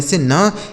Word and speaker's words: sun: आगे SUN, तो यस से हो गया दोस्तों स, यू का उच्चारण आ हो गया, एन से न, यह लिखा गया सन, SUN सन। ठीक है।